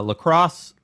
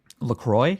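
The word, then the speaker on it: La Crosse: is great so far yeah yeah in uh Lacrosse Wisconsin he went he's going to college there it's a college town I love their water their sparkling water is delicious lacroy you're thinking of lacroy it's pronounced lacrosse no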